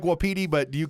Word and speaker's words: wapiti: Is it wapiti or wapiti? I follow a lot of Native Americans on TikTok, and they pronounce it with the distinct wapiti. So I like wapiti, but do you call it wapiti?